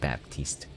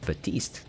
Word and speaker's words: Baptiste: That's how me and all my friends were pronouncing it, Baptiste. But apparently it's pronounced Batiste. The P is silent.